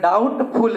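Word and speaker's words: doubtful: और इसके बाद अगर डाउटफूल रहेगा इस बीच साइलेंट होता है ध्यान दीजिएगा इसको डाउटफुल पढ़ा जाता है इसको नोट्स इश्यूड में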